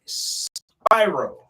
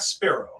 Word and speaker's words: Spyro: corrected with your name dj spyro yes like yes okay it's not spiro no not spiro like the